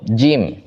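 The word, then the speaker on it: جيم: pas kita baca Ja Kan dia sifatnya aljahr aljahr itu apa tidak keluar angin dari mulut kita tapi kenapa seperti becek begitu begitulah kita diajarkan oleh guru kita yang sanadnya sampai ke Rasulullah Sallallahu Alaihi Wasallam simpelnya begitu tapi pas kita begini kan enggak ada anginnya kalau ada anginnya salah ja ja ja Nah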